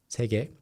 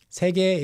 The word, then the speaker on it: 세게: Yep, 세게. 세게 is the standard pronunciation, but in real life, people often say 세게, 세게.